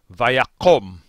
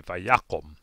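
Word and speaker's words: וַיָּקָם: to include this form because the accent falls basically uh over the yud and so this is actually read vaiyakom because that last syllable as a result of the accent rescinding or moving back that last syllable becomes closed and unaccented and so the kamats becomes the kamatsukatan and we say vayakum notable two is the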